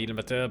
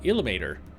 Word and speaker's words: Ilmater: Ilmater. I just say Ilmater because it's Ilma, which is air in Finnish. So that's why I say Ilmater. Ilmatar.